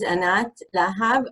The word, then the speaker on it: Anat Lahav: So my name is Anat Lahav. I pronounce it like that.